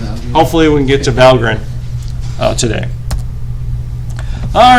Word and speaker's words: Valgrind: That's how they want you to pronounce it, Valgrind, not Valgrind. They get angry about that. Whatever. Valgrind? Why they Valgrind. put the extra letter in though? Apparently it's from Norse mythology, and that's how it's pronounced.